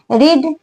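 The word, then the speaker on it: read: being ड हो गया रीड वर्ब थड रेड स्पेलिंग सेम रहती है प्रोनंसिएशन डिफरेंट होता है रीड रेड रेड तो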